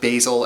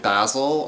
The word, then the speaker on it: basil: I've since discovered that both basil and basil are valid ways to pronounce that word outside of knitting there